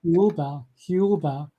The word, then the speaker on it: Thiaouba: So what Michel was told that this group of ETs, the Thiaoubans, remember Thiaouba is pronounced very similar to Jehovah.